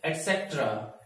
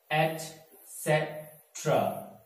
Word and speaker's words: etcetera: The next word is, हम इसे ज्यादातर लोग कहते हैं etcetera, etcetera, right? But the right pronunciation is etcetera.